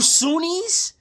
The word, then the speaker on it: Sunni: For all you Sunnis, I'm Shia. I'm going to remind you that right now. And you Sunni rhymes with community.